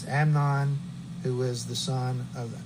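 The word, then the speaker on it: Amnon: It's not Ammon, it's Amnan, who was the son of Ahen of Jezrael.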